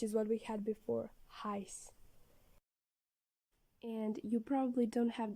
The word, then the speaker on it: heiß: It's like a normal S. For example, heiß, which means hot.